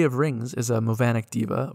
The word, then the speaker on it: deva: Unity of Rings is a Movanic diva, or perhaps you'd like to pronounce that Deva, I know I would, but apparently that's not how it's pronounced, who flies around Sigil